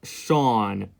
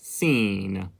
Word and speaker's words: Sean: of my videos because the way I pronounce my name is Sean not seen dear God Almighty you